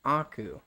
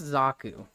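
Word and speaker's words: Xaku: nice yeah hot friend if it is zaku it's Aku it's x a kuu it is pronounced zaku I'm not a huge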